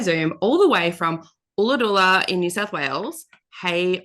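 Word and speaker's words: Ulladulla: joining us via Zoom all the way from ola in New South Wales hey Rachel how are you I'm good thank you and I'll just say it's Allah DOA but I love that pronunciation it was beautiful oh it's great yeah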